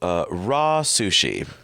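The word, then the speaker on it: RA Sushi: And then part of our explorations led us to raw sushi.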